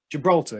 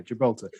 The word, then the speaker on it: Gibraltar: pronounced this way because in russian we say gibraltar oh i see yeah well to be fair on the second syllable gibraltar yeah gibraltar to be fair in spanish it is also pronounced with the syllable on on the uh the stress on the last syllable as it is the